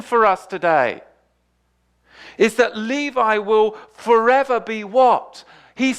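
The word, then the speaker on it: לוי: Now Levi, of course, in the Hebrew is Levi, and it's actually spelled Lamed Vav Hey, and it's pronounced Levi.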